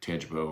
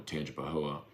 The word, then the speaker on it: Tangipahoa: Walking Man, the only people who pronounce the A at the end of Tangipahoa are people not from Tangipahoa. Listen to the way Mulkey says it, no A.